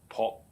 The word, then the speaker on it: 朴: The fourth character, pu, and actually is a oblique tone character during the Tang. An entering tone pronounced as po.